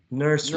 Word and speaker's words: nursery: Nursery, nursery. Nursery. Exactly, nursery. 2 syllables.